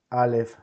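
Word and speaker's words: א: Let's begin by saying that the letter Aleph is mute. The letter Aleph doesn't have a sound in itself. But that doesn't mean that the letter Aleph won't sound, if that makes any sense.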